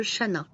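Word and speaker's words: Chanaz: Après la page de Ex Lébain et du brunch, je suis passée à la visite de Shana. Alors, il y a un Z qui apparemment ne se prononce pas.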